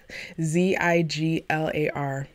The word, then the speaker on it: Ziglar: the man's name wrong it's Zig Ziglar Zi ji lar but I heard this